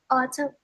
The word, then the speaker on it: autumn: Autumn. Autumn. How do I spell? Autumn. M N. Remember, the N is a silent letter.